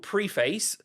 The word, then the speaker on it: Preface: Also, Geely have a new car that's called Preface. I think that's how you pronounce it. It's Preface.